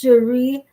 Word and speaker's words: Cherie: That is the word cheese and the word share put together, except the share part has another E and it's pronounced Cherie.